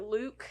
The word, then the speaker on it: Luc: Is it Luke? Which It's is a new one's Luc. coming out too. Yeah, Luke.